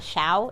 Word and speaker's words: chão: Fogo de chão is the, how do you say it? You say, not chão, it's chão.